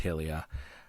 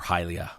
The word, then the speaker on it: Hylia: Triforce trusted it with Helia um or hylia depending on one's inflection um and then during the whole thing with demise hylia which I apparently prefer the pronunciation of um decides to give